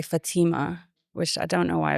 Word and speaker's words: Fathima: supposed to be said because I grew up in an Arabic country where it's Fatima. But I'm an Indian Indian Muslim, so we say Fatima.